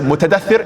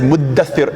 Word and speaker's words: muddaththir: So instead of mutadaththir, it's muddaththir, and the letters get pushed together to make it easier for pronunciation and so forth.